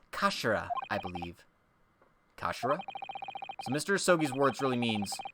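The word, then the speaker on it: 頭: end of the hilt it's written as head in japanese but it's pronounced as kashira mr sogi's words really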